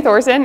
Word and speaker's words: Thoegersen: morning everyone um as she said I'm Thorson and I know that's not what it looks